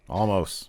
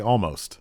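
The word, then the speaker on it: Olmos: there's no element well i'm just trying to make the l really subtle because it's the only way i know how to say it's like almost or edward james almost yeah there's an l in his name there's not an ellen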